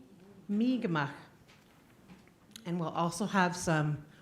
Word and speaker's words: Mi'kmaq: A lot of our teachers probably taught us to say Micmac, but it's really pronounced Mi'kmaq, Mi'kmaq.